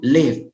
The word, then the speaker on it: lived: Wahyu lived, jadi tidak live, tapi ada penekanan huruf D-nya, bukan lived ya.